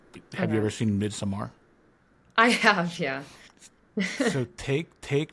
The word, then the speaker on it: Midsommar: Midsummer was just too, or Midsommar, is that the right way to pronounce it? Yeah, That one was too